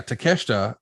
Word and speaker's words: Takeshita: But yeah, Takeshita is going to be a huge, huge star.